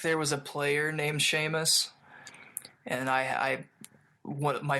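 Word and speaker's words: Seamus: Sheamus. You knew it was Sheamus the whole time? Yeah. Yeah. That's like an Irish name, isn't it? Yeah. But man, you're pronouncing everything so well. I mean, like I have told I remember when I was in high school, I was I was telling people, you know, it's actually Sheamus.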